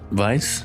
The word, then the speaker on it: Weisz: Cuz she Rachel Weisz? Yeah, that's how you say it. Weisz? No, it's the it's the it's It's Weisz?